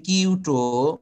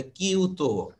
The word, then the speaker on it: Kyoto: 1997 সালে কিয়োটো protocol, আমরা বাঙালিরা এটাকে উচ্চারণ করি কিয়োটো, মনে হয় যেন KYOTO, কিয়োটো। আসলে জাপানিজ, যেহেতু জাপানের একটি শহর, ওরা এটাকে বলে কিয়োটো, ওকে তো এর মতো উচ্চারণ করে।